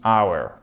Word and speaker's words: hour: Sauf que le mot heure en anglais qui est hour, attention, on ne prononce pas le H.